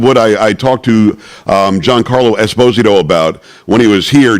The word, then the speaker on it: Esposito: Ernie Hudson, you heard from him earlier, had Giancarlo Esposito, who told me it was Esposito. He went to Naples, and they said you're pronouncing it wrong, and we had him on as well.